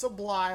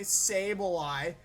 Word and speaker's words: Sableye: and his South Texas sable eyes okay I pronounce this apply last time y'all made fun of me Sableye there you go going up against Duncan and